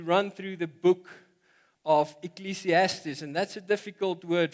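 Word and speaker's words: Ecclesiastes: there and ecclesiastis uh if you afrikaans you might say ecliastas. It took me a while to pronounce it um to get to get there. So it's ecclesiastis and we g to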